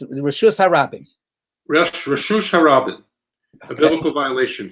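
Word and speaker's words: רשות הרבים: If we're gonna mispronounce it, then let's mispronounce it the correct way. So it's Reshus Harabim.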